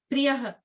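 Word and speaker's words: प्रियः: harsha marsha bhayo dvegai mukto yah sachame priye Priyaha. priyaha. That hedge that you see, the hedge that you see at the end of the word with a dot below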